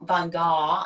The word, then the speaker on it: Van Gogh: Van Gogh is the pronunciation.